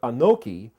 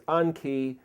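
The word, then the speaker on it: אנכי: It's pronounced Anoki, but there's no vowel there as a Vav. You could see it as Anki, and it basically means I am.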